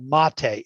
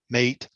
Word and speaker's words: MATE: what's on the inside my desktop choice is called mate m-a-t-e and there's a lot of argument about how to spell it or how to pronounce it a lot of people think it's mate but it's mate it's it's a south american drink or something so you know the people who know say it's mate not mate anyway so